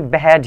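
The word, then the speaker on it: behead: बेहेड, बेहेड, बेहेड ऐसे करके प्रोनाउंस किया जाता है. आप गूगल पर सर्च के अच्छी प्रोनाउंसिएशन देख सकते हैं. जैसे बेहेड, बेहेड, जैसे बिहाइंड होता है ना, तो उसको बिहाइंड पढ़ते हैं. बिहेड है ये, उसको बेहेड पढ़ते हैं, इस तरीके से.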